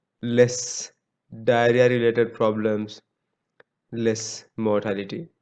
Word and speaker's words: mortality: bottom line eventually is mortality and growth right see 30 versus 8 percent like black and white so remember the proper pronunciation is mortality not motility i see even professors